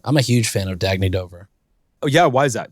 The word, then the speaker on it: Dagne Dover: Is that how you pronounce it? Dagne Dover? Dagne Dover.